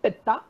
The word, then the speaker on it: Pitta: And this is how you pronounce Vata, Pitta and Kapha, right?